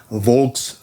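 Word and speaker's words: Volks: So, V in German is usually pronounced with a W. So, it' be Vulks, sort of like folks pistol.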